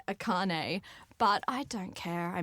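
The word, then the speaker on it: Akarnae: I pronounced it Arcane before I did it. I would say 70 or 80% of people do pronounce that. But the R is after the... I'm like, wait, how did I spell it? Yeah, the K comes first, but a lot of people, I don't know why, for some reason, maybe it's the foil, but it does, definitely Akane, but I don't care.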